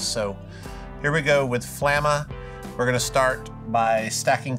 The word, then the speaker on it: Flamma: say the name flamma flama well i'm from alabama and it's pronounced flamma that's how i remember this so here we go with flamma we're gonna start by